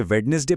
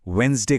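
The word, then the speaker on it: Wednesday: कोई भी नया इंसान इसे वेडनेसडे पढ़ने की गलती कर सकता है, लेकिन सच तो ये है कि बोलते वक्त ये डी पूरी तरह से साइलेंट रहता है। इसे सिर्फ वेंसडे कहा जाता है ना कमाल की बात?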